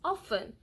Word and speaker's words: often: it you know but the T is silent and that's what's giving